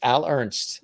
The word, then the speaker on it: Al Ernst: That's a very definitive name. Al Ernst. You know what I mean? It's very two single syllables. Yep. Al Ernst. Right. It's Al Ernst.